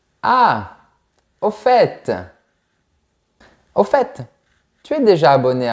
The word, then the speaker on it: au fait: Et on va commencer par « au fait ». Attention, on prononce le T.